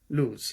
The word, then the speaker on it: Luz: Estádio da Luz. Estádio da Luz. Not Luis. Keep saying Luis. Da Luz.